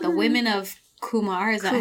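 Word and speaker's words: Qumar: It's called The Women of Kumar. Is that how you pronounce it?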